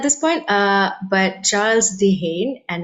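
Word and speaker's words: Dehaene: is terrible at this point uh but charles de gene and it's spelt d-e-h-a-e-n-e um and they're a very sort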